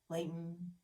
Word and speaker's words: Layton: We don't pronounce T's in the middle of things like mountains. Layton.